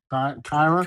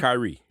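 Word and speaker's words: Kairi: Kyra. Kyrie.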